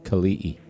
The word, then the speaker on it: Kelii: I went and asked him, uh, so I don't butcher your name on the stream, how do you pronounce it? That's a good idea. Khali.